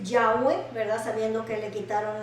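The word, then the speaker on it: Yahweh: a nuestro dios jehová la pronunciación en realidad de su nombre jehová es llave verdad esta es la pronunciación más correcta al acuerdo que han llegado los estudiosos verdad que la pronunciación de jehová es yagüe verdad sabiendo que le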